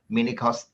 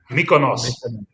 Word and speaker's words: Mykonos: Manny's in Minikos. Is it that? Minikos? What is that? How do you say that? Mykonos. Mykonos. That's better.